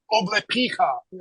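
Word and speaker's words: облепиха: You'll never stop drinking what's called oblepicha, that type of tea.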